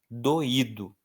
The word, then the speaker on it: doído: Doído. Doído. Se eu tiro esse assento, gente, vira doido, tá? Para eu deixar bem claro que o i é forte, eu preciso acentuar.